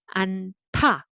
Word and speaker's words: 않다: So we have 5 aspirated consonant, and when hu is involved, then this first syllable you read with the first one, an, and then hu meets with d. So who meets with do. Do is soft and has aspirated version. So who makes this sound aspirated? So it will become anta.